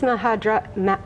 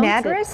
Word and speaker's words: Madras: This is mahadra. I can never pronounce Madras?